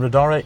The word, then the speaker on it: Riddara: I'm sitting in a Riddara. Is that the correct way of pronouncing That's it? correct, yeah. And Riddara is the luxury brand from Geely, That's correct.